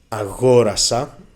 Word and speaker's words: αγόρασα: Λοιπόν, before we start checking the word endings, it's very important to say that the stress on the simple past moves one syllable to the left. Αγόρασα for the first person.